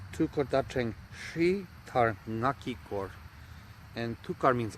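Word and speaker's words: Hrih: Shri is spelled H-R-I-H, but it's pronounced Shri. Shri. Usually when it's chanted, it ends up feeling like two syllables almost. Shri. Shri. So there's a little beforehand, then R.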